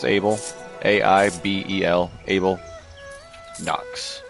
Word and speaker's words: A1B3L: It is A1B3L, which if you didn't know, guys, that's Abel.